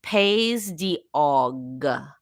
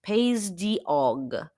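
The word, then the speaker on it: Pays d'Auge: specific region where this Calvados is from is paog is how is pronounced paog um and it's paay p a y s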